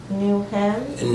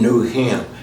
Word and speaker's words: New Hymn: New Hem? New Hymn. Spell it for me.